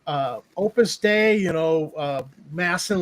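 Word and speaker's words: Opus Dei: It was Opus Day, right? And Opus Day. Opus Day, I think, is what it's called. Opus Day. Oh, okay. They were prus, but it's pronounced like day.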